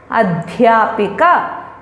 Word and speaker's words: अध्यापिका: Notice the sound dh, adhyapak, adhyapika, vidyalay. So it is not the, you have to be very careful about how you pronounce it.